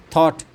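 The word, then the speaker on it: thought: थॉट जी H silent है।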